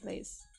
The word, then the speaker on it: Blaise: in the 1630s when was it Blaine Pascal came out with his, or was it Blaise? Blaise. Why do I keep saying his name wrong?